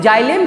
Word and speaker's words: xylem: एक्स वाई, इसको जाइलम बोलते हैं। एक्स यहाँ पर साइलेंट है, इसको जाइलम हम बोलेंगे, है ना बच्चों। इसको एक्स मत पढ़ना आप लोग, यहाँ पे एक्स साइलेंट है।